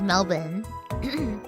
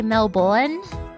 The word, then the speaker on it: Melbourne: There's no R. We don't say our R's at all.